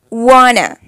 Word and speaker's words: want to: Then want to. Wanna. Do you wanna hug me?